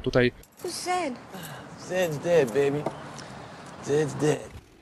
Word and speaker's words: Zed: Zed. Zed's dead, baby. Zed's dead. Jak zauważyliście, może już Z tutaj... I don't like you, Ed. It's Zed, you blinking bucket of bolts!